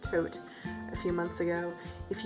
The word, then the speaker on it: Thoth: a the toast deck a lot of people pronounce that thought but I to my chagrin learned that it's properly pronounced coat a few months ago if you follow me